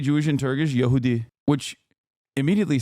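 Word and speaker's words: Yahudi: Yehudi.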